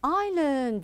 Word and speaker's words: island: have I have an island very good Island Island now notice the S here is silent we don't pronounce it now next what do